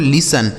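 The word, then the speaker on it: listen: दोस्तों यहां जो टी लिखा गया है ना यह साइलेंट होता है। मतलब इसे नहीं पढ़ा जाता है। लिखा तो जाएगा लेकिन पढ़ा नहीं जाएगा।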